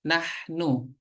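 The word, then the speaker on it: نحن: adalah kami kami atau dalam bahasa Arab dibacanya nahnu ya nahnu ya nahnu tulisannya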